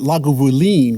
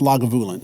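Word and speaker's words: Lagavulin: You know, she pronounced it laguin, right? But it's it's pronounced lagulin.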